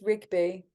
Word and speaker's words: Rigby: Do I pronounce that right? Rigby or Rigby? Rigby? It's Rigby.